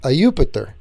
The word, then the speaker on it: Jupiter: Jupiter, pronounced Ayupiter, is a variation on Zeus Pater, which is this guy.